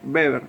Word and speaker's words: Weber: bueno es verdad que acuérdense beber aunque esté fría con w es verdad porque es alemán y se pronuncia así bueno tiene que pensar